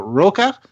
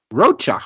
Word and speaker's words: Rocha: name, was it Roca? Is that how you pronounce that? Rocha, okay.